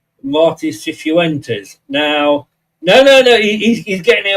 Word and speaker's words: Cifuentes: a YouTube video, is Cifuentes. So Cifuentes. So it's kind of like, the problem is, of course, when you've got a Spanish accent, of course, it sounds a little bit different.